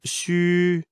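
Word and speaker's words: xū: housing the internal organs the pronunciation of shoe in pinyin or the standard pronunciation of Chinese phonetic alphabet the letter X is pronounced as in the English word she u is pronounced as wool in the word wood but ending with a prolonged it as in it the pronunciation is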